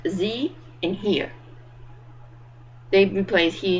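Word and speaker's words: ze: that are gender neutral it's pronounced Z and here they replace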